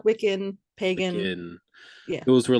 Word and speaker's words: Wiccan: you talked about how paganism wicca and wickham is that correct am i pronouncing that correctly uh close yeah wicca wiccan pagan those were like